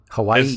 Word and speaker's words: Hawaii: Hawaii. It's actually the W is supposed to be pronounced like a V.